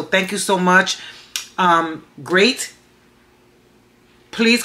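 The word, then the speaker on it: Greyt: me this company called great I hope I'm pronouncing that right is g-r-e -y-t so I'm thinking it's pronounced great great for gray hair so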